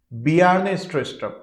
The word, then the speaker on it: Bjarne Stroustrup: तो यहाँ पर ये जो बी जारने स्ट्रोस्ट्रप है इसे हम बी जारने स्ट्रोस्ट्रप नहीं पढ़ेंगे, इसे हम पढ़ेंगे बियार्ने स्ट्रोस्ट्रप। ये जे यहाँ पर साइलेंट है साथियों। बियार्ने स्ट्रोस्ट्रप इज a Danish computer scientist.